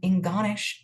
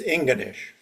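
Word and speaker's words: Ingonish: Chuck Baron shares an and J D Stillwater came to visit us in Inggonish, Nova Scotia, and had a great visit. I hope my pronunciations were correct, but I'm celebrating with you,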